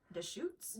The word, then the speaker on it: Deschutes: say this breweries name the shoots just shoots it is Deschutes Brewery so that's awesome because